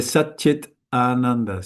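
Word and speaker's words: Saccidānanda: If you say Sat Chit Ananda, Sat Chit Ananda, Sat Chit Ananda, Sat Chit Ananda, Sat Chit Ananda, it automatically, this will be pronounced like a cha, and this like it with a D.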